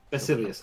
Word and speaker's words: Basilius: pronounce Zena's last name her last name is pronounced basus basilius okay um uh Zena